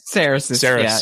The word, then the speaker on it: Cerasis: Cerasis. Yeah, sorry. That's okay. Hey, just for everybody out there, if you say Cerasis, you're about 99% normal. That's what most people would say, because it's phonetically correct.